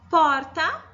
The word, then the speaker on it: porta: Viu como o por sai mais forte do que o tá? Então, nessa palavra, a sílaba tônica é o por. Porque a gente não fala porta, nós falamos porta.